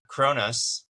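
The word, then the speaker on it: Kronos: which is Zeus's daddy uh kronus you say it like that um yeah Daddy and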